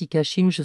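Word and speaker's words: 一家心中: Il existe d'autres variantes du shinju, le suicide familial qui en japonais se prononce ikashinju sans oublier le suicide de meurtre qu'on dit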